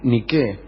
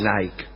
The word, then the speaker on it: Nike: revuelta que se llamó niqu niqu quiere decir Victoria quiere decir Victoria no se dice Nike se dice ni y